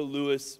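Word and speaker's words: Lewes: see it there but it says welcome to Lewis Mother Nature let's do this uh and I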